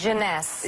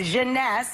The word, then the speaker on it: Jeunesse: How do you pronounce this? Jeunesse. Jeunesse.